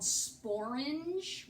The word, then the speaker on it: sporange: And they do say there is a word called sporange, which is some kind of a scientific word, but that's kind of a stretch, but that does rhyme with orange.